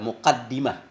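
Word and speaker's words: مقدمة: Jadi muqaddimah ini cara bacanya bisa dua. Yang pertama dengan kasrah dal berarti isim fa'il muqaddim. Diambil dari qaddama yang lazim dengan makna taqaddama.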